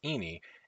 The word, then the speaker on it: ini: ties to malaysia and ini pronounced ini is the word for this in the malay language so ini mask means